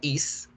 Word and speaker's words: is: miguel pero resulta que el verbo to be is no se pronuncia y se pronuncia que es el que es y es con zeta entonces es algo que